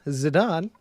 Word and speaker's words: Zidane: be talking about Amina Zidane right is it on is it the same as the same pronunciation as the soccer player that's what I've been